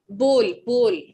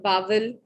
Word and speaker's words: bowl: Bowl. Bowl. Bowl. The right pronunciation of this word is bowl, not bowl, not bowel, not any other word or pronunciation.